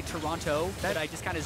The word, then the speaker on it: Toronto: All the options are open to them as they prepare to head to Toronto. I was told actually by a tweet, it's pronounced Toronto with no T.